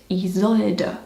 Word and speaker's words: Isolde: And you say it Isolde.